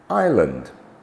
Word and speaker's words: island: raspberry okay onto letter s is silent in some words as in Isle Island eyet T is silent